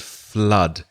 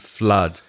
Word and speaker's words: flood: our so blood and flood don't confuse that with the double O in food for example which is ooh so there's food flood and blood be careful